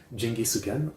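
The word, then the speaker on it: ジンギスカン: Geniscan, locally pronounced as Jingi Sukan, is a grilled mutton dish that is popular in Oko.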